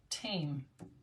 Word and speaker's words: tame: The E is silent, makes the vowel say its name. Tame.